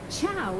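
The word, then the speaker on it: ciao: have gathered for centuries Chow is how you say hi I can't go behind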